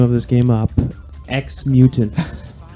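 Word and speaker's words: Ex-Mutants: X Mutants. Right, I'll take from that. It's spelled EX.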